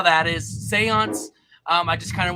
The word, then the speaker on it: Seance: now but um yeah my name is spelled s-e-a-n so s-e-a-n-c-e is Seance so it's essentially like Sean's but it's like real close and it's still dark and cool too so yeah you